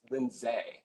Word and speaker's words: Lindsay: Lindsay oh she say yes but it's pronounced linday I felt like saying